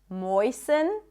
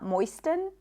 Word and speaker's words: moisten: Fasten, soften, moisten. It's not moisten, moisten.